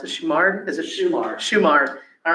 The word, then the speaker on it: Shumard: Of course, the live oak, please correct me, how do we pronounce it? Shumard? Is it Shumard. Shumard.